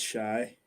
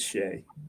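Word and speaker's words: Shai: If they could ever get Shy. I keep calling Shy. I think it's Shea.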